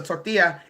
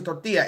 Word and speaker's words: tortilla: like it was a tortilla it's a tortilla it's not a tort